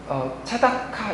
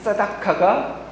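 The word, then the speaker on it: צדקה: 그리고 또 한편으로 우리 차다카 이야기 했었죠. 정의로 번역된 차다카인데 조금 더 이제 이렇게 원어적으로 발음을 하면 사다카입니다. 근데 이 사다카가 이렇게 형용사로 되면 사딕이라는 단어가 있는데요.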